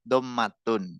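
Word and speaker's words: ضمة: Pengucapannya domah dommatun.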